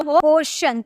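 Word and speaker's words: portion: Next, अगर हमें बोलना हो पोर्शन, आपको यहाँ टी के बाद IO नजर आ रहा है ना, इसीलिए हम इसे शॉ में प्रोनाउंस करेंगे, हम इसे बोलेंगे पोर्शन। ठीक है, पोर्शन।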